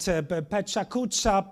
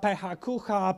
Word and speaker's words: PechaKucha: Various pronunciations circulate, Pechakucha, Pehakucha, Petrachka, yes, and various others.